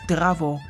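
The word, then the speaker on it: Zdravo: to visit picturesque Montenegro learn to say it's Bravo this is how the locals say hello in montenegrin the country's official language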